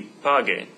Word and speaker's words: pague: would be P-A-G-E, but that doesn't work because that would be pronounced paje in Spanish. So I want to maintain the g sound. So the usted command for pagar would be pague.